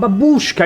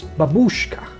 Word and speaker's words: babushka: But babushka is wrong. More correct is babushka. Babushka. Okay, here is the thing T banana.